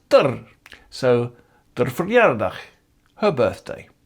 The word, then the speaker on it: d'r: And in everyday speech, unstressed haar is pronounced der.